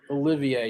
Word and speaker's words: Olivier: Entered the portal, and the 7'9" center Olivier Rioux from Florida have entered the portal. You know, Olivier, Crooks, you got to say it like yeah, the French. Olivier, yeah, my bad.